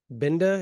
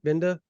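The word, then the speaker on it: Gbenda: say that is David binda is that how you would say it is that how you pronounce it binda the G silent right yeah I think um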